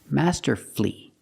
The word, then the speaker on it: masterfully: hopefully respectfully and successfully but with words like these masterfully beautifully and wonderfully you have two syllables before f l l y but the stress is on the first syllable in this case the U is silent Master flee beautifully wonderfully we also practice with these